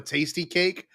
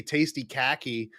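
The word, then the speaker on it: Tastykake: There's a thing called a tasty cake, but it's spelled Kake, and my friends would all say tasty khaki, and it made me so mad.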